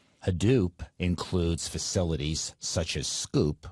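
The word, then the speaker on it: Sqoop: Hadoop includes facilities such as Scoop, which is spelled a little funny, S-Q-O-O-P, and that's used for bulk data transfer from relational databases as quickly as possible.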